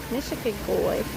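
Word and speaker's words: Nishikigoi: I can't even pronounce it. Nishigigoi. Nishigigoi.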